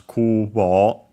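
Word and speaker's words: 空母: Here contracted becomes Kubo, keeping the two kanji in the middle. The accent becomes accent on the first mora in this case, of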